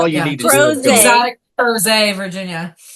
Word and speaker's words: Crozet: Crozet. Exotic Crozet, Virginia. Crozet, Virginia.